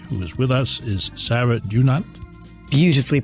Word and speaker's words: Dunant: and the author was with us is Sarah do not beautifully pronounce ha ha everybody get right and you